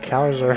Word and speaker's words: Caesar: It's pronounced Kaiser.